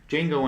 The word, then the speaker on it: Django: talking about Jango Fett Django Unchained but the D is silent because it's non-existent whenever